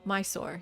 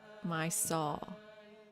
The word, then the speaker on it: Mysore: Mysore. Yeah. My soul. Was that just British? If you're British, you say my soul.